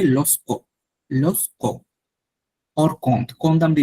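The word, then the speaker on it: lorsque: হ্যাঁ, কম আমরা ইউজ করছি মানে when, কমদের আরো একটা সিনোনিম আছে লস্কো, লস্কো, লস্কো হচ্ছে আপনার এটাকে এই আর যেটা আরটা খুবই সাইলেন্ট থাকবে, লস্কো, লস্কো অর কন্দ, কন্দ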